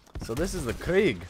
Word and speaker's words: Krieg: think i just realized i've been pronouncing craig wrong this entire time because you see the pack punch name of the weapon here the blitzkrieg i think it's named the krieg because it's german blitzkrieg so this is the